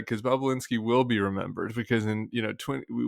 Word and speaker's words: Bobulinski: The other name is, how do you pronounce it? Bobulinski, Bobulinski. Bobulinski.